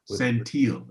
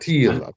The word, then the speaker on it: Santil: You play the character Alan Santil is how it's pronounced. Santil. I didn't mess it up.